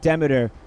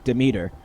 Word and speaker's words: Demeter: That's from the goddess Demeter, who I learned is actually pronounced Demeter, but I will be stubbornly continuing to call her Demeter.